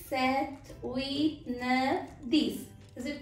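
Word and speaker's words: sept: Center in this seven don't use this letter P while you pronounce set the P should be dropped okay just silence set the week the head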